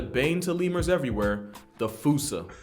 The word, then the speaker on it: fossa: to lemurs everywhere, the fusa. Although with its spelling, I'm pretty sure it's actually fossa, but the day I pronounce it like that is the day I lay my childhood to rest.